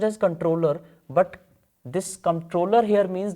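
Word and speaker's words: comptroller: So, controller, or you can say controller, it is actually pronounced as controller only.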